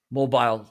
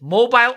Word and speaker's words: mobile: to your uh mobile device how do you say it mobile or mobile and here in the u.s you can say it either way and they are both acceptable i love it okay